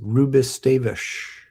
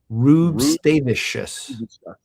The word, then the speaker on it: Rubstavicius: You keep leaving off the us at the end, John. Bring it back to us. Rubistavish. I think it's got more syllables in that. I think you're leaving one out. I'm scrolling back up to my pronunciation guide here. Montas Rubstavicius. There we go.